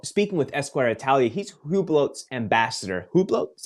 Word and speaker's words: Hublot: still um So speaking with Esquire Italia he's hublot's Ambassador Hublot is how you say it the